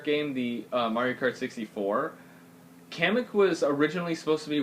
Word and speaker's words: Kamek: And then we have Kamek, which, oh, I guess how they pronounced it was Kamok.